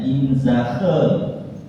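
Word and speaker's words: inzage: Lalu sebelum dikirimkan itu ada namanya inzakhe lagi katanya bahasa Belanda bacanya inzakhe.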